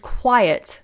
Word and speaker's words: quiet: Amel says, regarding quite and quiet homophones, question? No. So quite is quite nice. Then that's quite and quiet, different pronunciation. Quite, quiet, shh, quite. Quite nice, quiet, it. Can you hear the difference?